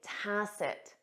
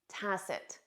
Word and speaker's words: tacit: correct answer is a tacet tacet you won't hear that final T in spoken English tcid tacit this means understood or